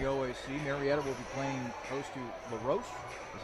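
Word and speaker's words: La Roche: tap around the OAC Marietta will be playing LaRoche is how you pronounce yep that's right okay Baldwin Wallace will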